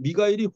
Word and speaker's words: 미가엘: 예수 그리스도의 다른 이름 마이클이 마이클 예 근데 사실은 우리나라 말 미가엘 예 우리나라의 발음 미가엘이 훨씬 더 히브리어에 더 가깝습니다 누가 하나님과냐 이거요 누가